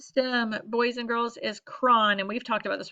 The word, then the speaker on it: chron: boys and girls is Kron and we've talked about this one a lot this year this should be easy peasy lemon squeezy Kron again pronounced Kron almost like kron4 it's spelled c-- h